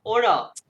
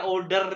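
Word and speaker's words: oder: Good, okay good, या ओडा, ये यहाँ पे आ गया, ऑर्डर नहीं कहना, ओडा ओडा, ओडा ऑर्डर ओडा mean ऑर्डर, और, ये क्या सर, ये दोबारा प्रोनाउंस ओडा करें सर?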